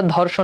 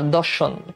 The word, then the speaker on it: দর্শন: তো ওটা এক্সাক্ট, ওটা ধর্ষণ না, দর্শন, দ ধ উচ্চারণ।